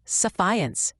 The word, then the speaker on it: Sephience: Sephiants pronounced suffiance is a prescription medication.